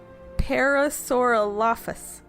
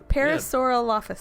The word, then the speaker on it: Parasaurolophus: no Paris or off Paris or all office Parasaurolophus Parasaurolophus there you go yeah yeah you got it